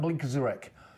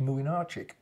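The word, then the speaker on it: Młynarczyk: I did Poland against France, funnily enough, and the Polish goalkeeper was spelt Mlynczarek. You've lost me. Look like Blinkazurek. Pronounced how you do your homework, and I went and checked. It's pronounced Mlynczarek.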